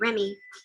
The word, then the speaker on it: Remy: In fact, my mom told me recently, as soon as I turned 8 months old, that the reason I was named Remy is because obviously it rhymes with STEMI.